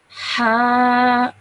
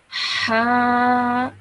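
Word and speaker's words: ح: Now this letter you have to pronounce with force, okay? So you have to really take a deep breath and then say it. Ha. Like taking a deep breath and then saying this letter, okay? So like, you know how you sigh and take a like that, okay? Just like that you pronounce this letter.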